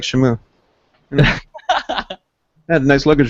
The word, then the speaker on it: Shamu: Shamu. It's like shampoo.